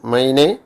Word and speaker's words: meine: ബഹുവചനം ആണെങ്കിൽ നമ്മൾ പറഞ്ഞത് ദി എന്നുള്ളത് ദർ ആകുന്നതെന്ന് പറയുന്ന പോലെ എൻ്റെ രക്ഷകർത്താക്കൾ എന്ന് പറയുന്നത്, എൻ്റെ രക്ഷകർത്താക്കൾ എന്ന് പറയുന്നത് മൈനെ എൽറ്റേൺ, MEINE മൈനെ. അത് MEI എന്നുള്ള ഉച്ചാരണം.